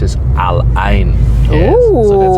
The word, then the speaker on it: Al Ain: We're actually on our way down to Alin right now. Um, we're going to tell a little bit of our Alain. Oh, it's actually pronounced as Aline.